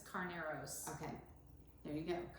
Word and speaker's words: Carneros: And I don't know how to pronounce this particular area in Napa. It's Carneros. Okay, there you go, Carneros.